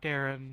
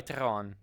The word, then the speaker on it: Teron: was kind of Point not Darren yeah sry teron yeah oh every time